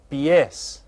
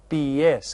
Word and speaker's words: pies: they're called un BS now this looks like the word pies doesn't it it's BS because remember each of the vow sounds we're going to pronounce in Spanish BS we don't have silent vowels in Spanish so I'm going to